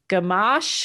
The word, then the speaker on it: Gamache: yeah so thank you so much chelsea gum gamash is how you pronounce the last name um and chelsea have